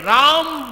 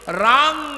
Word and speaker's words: राम: बीज में, अर्ध-अक्षर 'मा' का उच्चारण 'म' की तरह होना चाहिए। 'राम' कहना चाहिए, 'रामन' नहीं कहना चाहिए।